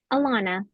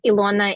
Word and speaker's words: Ilona: Alana. Alana. Oh, so close. Very close, yes. Technically, it's Ilona in Ukraine. I'm originally from Ukraine, so Ilona there. And sometimes it's the emphasis on the wrong syllable.